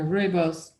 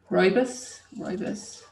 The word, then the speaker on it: Rooibos: Green teas don't take as long to steep as the black teas or the Rooibos, which we'll do next.